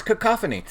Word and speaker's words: cacophony: shows how it's pronounced I think it looks announced that cacophony alright well you would be wrong it's cacophony so Robbie and I